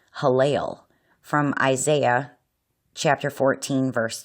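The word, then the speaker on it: הילל: rendering of the Hebrew word that's a transliteration, pronounced Halel, from Isaiah chapter 14, verse 12, given in the King James Version of the Bible.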